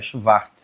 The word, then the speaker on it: Schwartz: A pronúncia correta alemã é Schwartz.